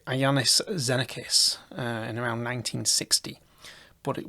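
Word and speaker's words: Iannis Xenakis: name here but um i think it's pronounced like iannis zenicus in around 1960 but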